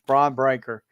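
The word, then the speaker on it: Bron Breakker: Gunther or however you say his name it's braon breaker yes I don't understand what they're doing with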